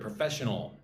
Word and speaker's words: professional: The next word, professional. Right, there's only 10 vocabulary today. Number 7 is professional. Professional. Professional, right? 4 syllables. Put the emphasis on the second syllable. 1, 2. Fesh. Professional. Professional means related to work,